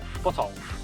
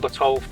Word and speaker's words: Botolph: Is that how do you pronounce it? Botolph? Botolph. The Saxon saint Botolph was a Saxon nobleman who built a monastery at what is now Boston.